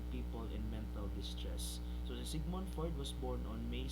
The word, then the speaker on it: Sigmund: narap sa pinatunggan nga ini-pronounce ko no Simon ko na ni pag-pronounce. So akong gi-sure Sigmund gid ay siya.